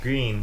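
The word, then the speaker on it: Greene: It's spelled like green, but with an E at the end. Yeah, you just put an extra E in there. Green.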